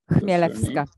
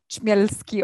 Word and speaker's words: Chmielewska: Chmielewska. Chmielewska. That's proper pronunciation. None of this Chmielski or whatever.